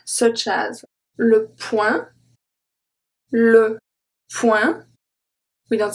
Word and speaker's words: point: le point, we don't say poing, we say point, but that does not include English words, such as smoking, camping, etc. So when the word comes from English and it ends with ing, we pronounce the G, but not point, because point doesn't come from English, okay?